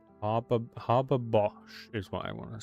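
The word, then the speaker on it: Haber-Bosch: how you pronounce Har Harbor Bosch is what I want to say. Har. Oh, hab Bosch. Habos, I think. So ha ha a bos like grabber but h h h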